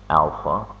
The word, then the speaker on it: alpha: go over the symbols this week letter is pronounced Alpha it's used as symbol for angular acceleration this